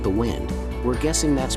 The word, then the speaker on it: Wind: You can also get a cheaper version of the RWD EV6 called the Wind. We're guessing that's pronounced like the breeze and not the thing you do to your watch, for $4,200 less.